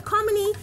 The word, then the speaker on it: Commy: instruction in your name it's commy like Harmony yes it's unfortunate people